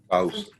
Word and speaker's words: Faus: Tell me the last name again, so I don't mess up the pronunciation. Faus. Faus.